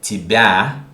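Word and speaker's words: тебя: yeah in the word tibia is not pronounced ye but almost e i say almost because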